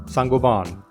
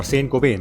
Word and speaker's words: Saint-Gobain: Christian Dior, Schneider Electric, Michelin, L’Oreal, Saint-Gobain or Saint-Gobain if you prefer the American pronunciation, are just some of the famed ones among them.